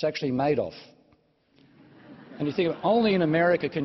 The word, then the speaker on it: Madoff: problems instead we have the characters like Bernie Madoff now that's how I thought you pronounced his name until Americans heard me talking about it and said no in this pregnancy's name it's actually made of anything only in America can you get lines